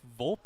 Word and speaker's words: Volpe: Okay, this part here, I have no baseball analysis whatsoever for O'Hoppe, but what I will say, O'Hoppe, you have to pronounce the E, where with Volpe, you also have to pronounce the E.